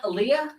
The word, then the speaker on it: Aaliyah: Uh, uh, what's her name pronounced? Aiyah. Aaliyah.